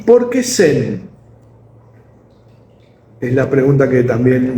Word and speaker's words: Zen: la misma manera, pero en chino se pronuncia Chan y en japonés Zen.